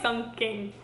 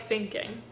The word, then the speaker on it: Sun King: That sounds like Sun King. Sun King. Not like sinking.